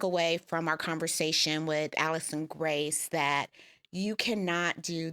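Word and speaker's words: Alycson: My name is Allison Grace AK. It is spelled A L Y C S O N Grace G R A C E.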